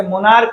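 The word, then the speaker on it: monarch: जैसे मोनार्क और स्टमक दो ऐसे शब्द है जिसके लास्ट में सीएच होता है लेकिन उसका उच्चारण क होने की वजह से उसमें हम लोग एस लगाते हैं।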